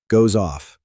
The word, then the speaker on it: goes off: Goes off. Connect the S and the O.